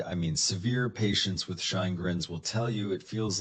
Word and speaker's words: Sjögren's: This one's name is a little tricky. It's pronounced Sjögren's, but what it does to your body is very straightforward.